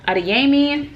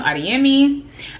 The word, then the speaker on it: Adeyemi: is by tomi adeyemi and adeyemi sorry from saying it wrong adiemi um yes this is the